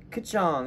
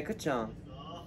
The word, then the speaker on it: Kkulchong: So wait, how do you pronounce it? Kkulchong. Yeah, okay, Kkulchong.